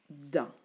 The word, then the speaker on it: dent: Il y a le T qui est aussi muet étant donné qu'il n'y a pas de E après le T. Donc, il y a seulement une syllabe et ça se dit dent.